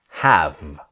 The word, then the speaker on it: have: So the pronunciation is have. Never have-y or anything like this. The E is silent, so it's have.